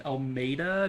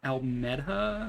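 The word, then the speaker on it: Almedha: Apparently it's pronounced Almeida, not Almeda, so I apologize.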